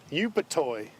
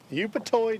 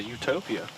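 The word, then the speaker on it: Upatoi: to say his City u p a t o i Troy how did he say the town you live in sir say the town you live iny yup toy yup toy Georgia I was going to say I was going to say Utopia yeah I was thinking that too but I did not want to say it wrong how many got three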